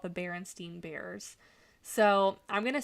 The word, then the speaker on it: Berenstain: And I will go to my grave thinking that it was the Berenstain Bears, because that's even how they pronounce it, was Berenstain.